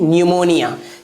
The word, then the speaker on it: pneumonia: न्यूमोनिया।